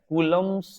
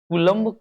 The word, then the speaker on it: Coulomb: कूलम्स law, spelling COULOMB, कूलम्स लॉ। कूलम्ब का नियम, हम इसको ऐसे भी लिखते हैं, कूलॉम का नियम, या कूलम्ब का नियम भी लिखते हैं, कूलम्ब हिंदी में।